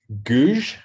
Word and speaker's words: Gourgues: I'm going to screw up Jenna's name, but it's Gouge. Well, it's spelled gorgeous, Gourgues, but it's like French, just like Dr.